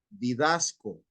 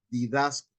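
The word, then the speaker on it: διδάσκω: La palabra enseña en griego es didasco, con acento en la A, didasco.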